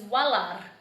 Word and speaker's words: walar: Another word in Gugi-Yalanji is walar, and walar means your beard. And so it's got that roll to your tongue.